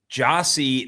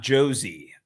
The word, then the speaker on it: Jossie: It's Jossie, not Josie.